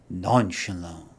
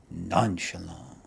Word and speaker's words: nonchalant: attitude towards a certain subject that word is non Shalon non Shalon we are looking at how to pronounce this word as well as have to